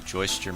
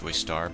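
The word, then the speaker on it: Joestar: Now, also we find out that the Joyster mansion, now I say Joyster, it's pronounced Joystar, but I'm going to keep pronouncing it Joyster because it's easier for me to pronounce.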